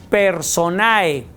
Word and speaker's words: personae: Pues igual, se escribe personae, pero la E no suena y entonces es persona.